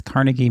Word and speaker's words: Carnegie: saying it that way it's Carnegie Mill and I've heard it that way my entire life pittsburger say carnegi we put in the extra syllable um and so Russo